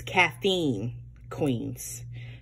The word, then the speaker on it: Caffeine Queens: is my monthly from I've always been pronouncing her name her her vendor company name wrong I do apologize it's caffeine Queens I don't know why